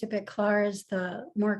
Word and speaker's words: Claar: that right is it clark um yes claire is how my father pronounced it but clara's the more correct pronunciation because i remember from